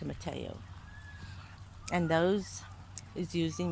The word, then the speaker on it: tomatillo: It's spelled tomatillo, but it's called a tomatillo.